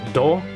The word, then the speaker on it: 度: So just this kanji, which is pronounced do.